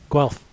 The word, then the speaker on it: Guelph: Guelph.